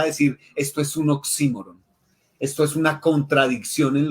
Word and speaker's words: oxímoron: entre grave o esdrújula me quedo con la grave.